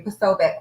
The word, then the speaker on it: Posobiec: Yes, thank you, Posobiec.